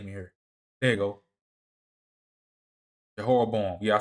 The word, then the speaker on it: Jehoram: Jehoram.